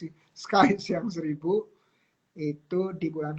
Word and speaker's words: Skies: Mudah-mudahan mereka atau semua anggota Skis yang 1000, kok Skis sih? Skies yang 1000 itu di bulan Ramadan ini cuannya minimal naik dari yang sebelumnya.